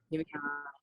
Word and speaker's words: Giveon: Giveon.